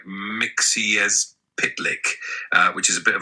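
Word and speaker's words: Mxyzptlk: Miztulplik cover. I've always said Miztulplik, but looking closely at it, it seems like it's Miztulplik. How do you pronounce Mr. Miztulplik? So traditionally, it's pronounced something like Mixiezpitlik, which is a bit of a mouthful.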